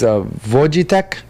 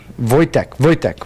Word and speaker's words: Wojtek: No, okay, so I think it's Vojitek, and it's a real story. It's a real freaking story. What, they train the Polish bear? pronunciation. Soldier bear? Wojtek, whatever.